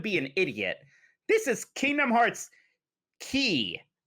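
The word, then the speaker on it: Kingdom Hearts χ: This is Kingdom Hearts Key. That symbol apparently means key or chi or something like that, but they always pronounce it as key.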